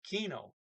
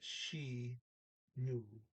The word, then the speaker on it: kino: not in this one k before and i is sh so she knew she knew the o is an o o sound i can boot so